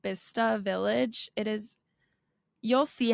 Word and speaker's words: Bicester: and they pronounce it bista sense B it looks like well it looks like Bicester yeah but they say but they just cut out entire syllables of the word yeah but anyways it's